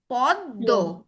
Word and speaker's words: পদ্ম: এক্ষেত্রে পদ্ম উচ্চারণ কেমন হবে? দয় দুইবার, পদ্ম।